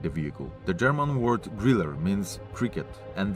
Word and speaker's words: Grille: The German word Griller means cricket, and the letter E at the end is pronounced as an R, Griller.